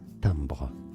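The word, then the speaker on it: timbre: all the way up I do know the pronunciation of tomra it comes from French and in French it's said as tambra tambra if you do move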